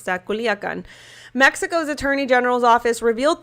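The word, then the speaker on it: Culiacán: has been arrested in western Mexican city of Culiacan. Sorry, I meant to pronounce that. Culiacan.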